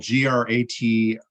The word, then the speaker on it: Gratiot: and he was sent to uh uh it's it's spelled g-r-a-t-i-o-t gratiot prison in st louis and if you're